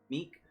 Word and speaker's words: Mique: And they said Mique, but that's how it would be, that's how it's spelled with like Dominique. So, Mique.